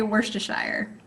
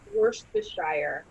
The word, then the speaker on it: Worcestershire: you say it jordan i always just say worcestershire worcestershire that s the s-t-e-r in the middle there man that throws